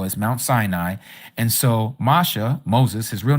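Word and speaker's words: משה: So, Masha, real name, Masha, not Moses. Moses, okay? Just like Jesus. They also Greek-nized Mosh Moses' name by calling him Moses. It's Masha.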